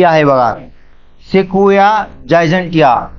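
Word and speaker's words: Sequoia: तर ही आहे बघा शेकोया जायजिया मी तुम्हाला काल दोन तीन वेळेस पण हा शब्द वापरला होता पण मी शेकोशिया म्हटलं ऍक्च्युली याची स्पेलिंग अशी आहे शेकोया जायजिया किंवा जायजांशिया जायंट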